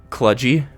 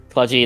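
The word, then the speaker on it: cludgy: k does it no it starts with a k sound uh English that's clut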